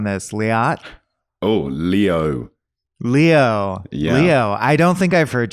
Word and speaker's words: Liot: like to say well you know how to pronounce ballet and then all of a sudden it makes sense Leo yeah there you